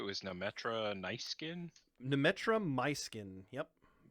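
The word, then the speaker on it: Myskyn: should walk up to her how did you pronounce it was numetra nice skin numetra my skin yep my skin m-y-s-k-y-n got it uh so we'll walk up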